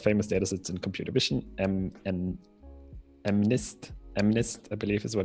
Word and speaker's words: MNIST: We'll use one of the most famous datasets in computer vision, MNIST, I believe is what it's pronounced, for our experiments.